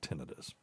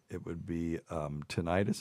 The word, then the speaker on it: tinnitus: We were always taught it was tinnitus. And if there was an I at the end, it would be tinnitus, except that we also have pruritus is spelled